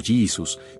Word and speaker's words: Jesús: En inglés se pronuncia algo así como Jesus, mientras que en español decimos Jesús con la J aspirada característica de nuestro idioma.